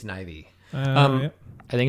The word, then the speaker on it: Neve: Nev Campbell, she was great. It's Neve. I think it's pronounced Neve Campbell. I think it's Nivy.